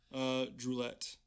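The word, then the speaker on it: Druillettes: Jesuit fathers, and it'd be Gabriel Droulet, because the S isn't pronounced.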